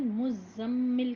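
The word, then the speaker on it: مزمل: ये क्या है कि इसका प्रोनंसिएशन मुजम्मिल कहेंगे हम ठीक है जा का शदा भी अच्छे से प्रोनाउंस करेंगे सूरतुल मुजम्मिल मक्की सूरत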